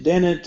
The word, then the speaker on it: deny: Daniel, she denied herself any luxuries. Ah, yes. Say, I don't know Daniel. Denied. Denied. Denied. Yeah, the Denied. stress falls on the second syllable.